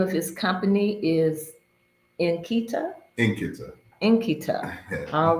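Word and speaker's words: nkịta: And so he said Nkita.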